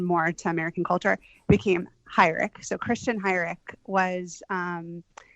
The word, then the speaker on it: Heurich: organization so actually um although you're pronouncing the name correctly in the way a German person would say it um it was changed